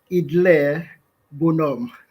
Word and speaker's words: Idler Bonhomme: The name is pronounced Idle Bonhomme.